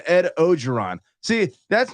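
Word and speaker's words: Orgeron: it's the same thing as everyone's saying Ed ogeron see that's not some weird pronunciation I don't know that's just everyone being a it's or giron there's an o or an r at the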